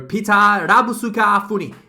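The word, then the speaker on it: Pieter Labuschagne: So Peter Rabusuka Funi is the Japanese pronunciation for him.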